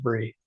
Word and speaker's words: Brea: So so so her name her name is spelled Brea, but it actually is pronounced Bree. Bree, okay.